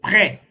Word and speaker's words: prêt: tudo eu leio é, aqui pré, eu não leio esse T, beleza? Aí quando eu vou fazer a liaison é entre esse T e com esse é, fica tu té, entendeu? Tu té pré, ó.